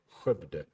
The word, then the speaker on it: Skövde: Yes, that's how it's pronounced, if you didn't know. Skövde.